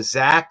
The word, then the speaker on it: Zach: And Zach rhymes with back. Back to the future. Man, this stuff is amazing with that Michael J. Fox, Michael Jeffrey Jordan connection. Wow. Zach like back and I